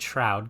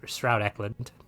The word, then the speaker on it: Stroud Eklund: I was pronouncing it Shroud because I'm an idiot. So it's Stroud Eklund with an ST.